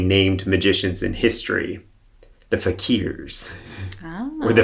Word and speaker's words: fakir: magicians in history, the fakirs, or the fakers. So, but that's not how you pronounce it, though. No, it's fakir, yeah.